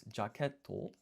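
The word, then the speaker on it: ジャケット: So, jacket is jacket and you can hear how this sounds just like jacket in English.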